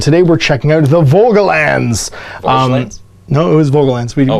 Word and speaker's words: Volgelands: So we looked it up on YouTube, and it's Volgelands.